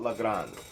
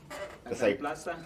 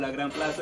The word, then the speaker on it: La Gran Plaza: Let's talk about La Grande. La Gran Plaza? Yeah, that's how you pronounce it? Yeah, La Gran Plaza. What? Spanish getting there, y'all. Come on.